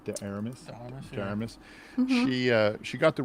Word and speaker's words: de Armas: How do you pronounce her last name? De Armas.